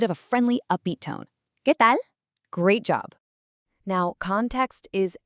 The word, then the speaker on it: ¿Qué tal?: Notice the accent over the e and how the upside down question mark actually frames the sentence at the beginning. Let's try pronouncing that together out loud, keeping that pure e sound and that crisp a sound.